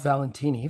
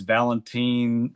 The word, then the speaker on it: Valentini: Oh, it's Valentine Valentine. It's anything under the sun except for the correct way.